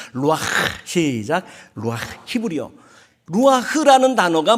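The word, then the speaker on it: רוּחַ: 생기가 이게 히브리어로 루아흐. 따라합시다. 루아흐. 가래 끓는 소리가 좀 나야 발음을 제대로 한 거야. 루아흐.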